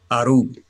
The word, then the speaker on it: Aru: No one knows where the city of Aru, that is spelled A-R-U.